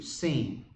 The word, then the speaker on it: Sin: Is how you say that in Hebrew, Sin.